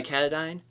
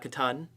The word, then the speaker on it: Katadyn: said katadyn base camp made by katadyn not Katahdin I think when I first got it I pronounced it wrong the old one came